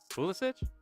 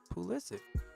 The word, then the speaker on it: Pulisic: Pulisic? No, Christian Pulisic. Pulisic. Mm-mm. That's not how the commentators say it. I see in those types of names, it's always itch.